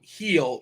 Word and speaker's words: Gil: It's a soft G. It's a heel. Yeel. Luis Yeel. Yogging. It's heel, just like your foot, like heel.